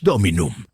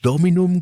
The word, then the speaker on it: Dominum: «No es Dominum, es Dominum con el acento en la tercera», dijo, y lo hizo con la seguridad de un profesor que marca un error leve.